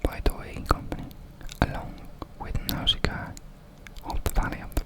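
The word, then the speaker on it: Nausicaä: I don't know if it's pronounced more Nausicaa in English, but the last letter in that word is a, at least in Finnish, so I say it's Nausicaa of the Valley of the Wind.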